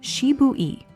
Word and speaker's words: Shibui: Here, we reach a genuine Japanese aesthetic idea called Shibui, pronounced Shibui.